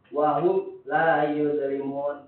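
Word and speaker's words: وَهُمْ لَا يُظْلَمُونَ: Apabila mim sukun bertemu dengan huruf izhar maka dibaca jelas. Jadi bacanya gini, yang antum pelajari ya. Wahum la yuzlimun.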